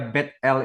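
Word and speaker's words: Bethel: l itu adalah Elohim Jadi kalau GBI gereja Battle Indonesia sebenarnya bacanya gereja betl Indonesia itu lebih tepat saudara bad itu rumah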